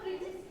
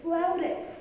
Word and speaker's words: flautist: Can I become a flutist one day, Mama? Well, darling, if you pronounce it flutist, then everyone will laugh at you. It's flautist.